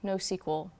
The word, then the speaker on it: NoSQL: redus okay so first what is no SQL or nosql if you pronounce it that way it's come to mean